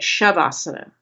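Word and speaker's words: śavāsana: which usually isn't added, but I say it shavasana because it is the sh letter.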